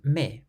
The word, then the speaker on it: mais: The following words, for instance, all end with letters that are completely silent.